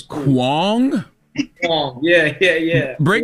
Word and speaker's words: Huang: But you say Hong, and I think it's kind of funny, so it's cool. Huang? Huang. Yeah. Break Huang.